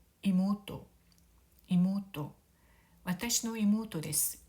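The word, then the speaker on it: 妹: 이모토라고 읽고요. 모우는 장음이 됩니다. 이모토, 이모토, 와타시노 이모토 데스.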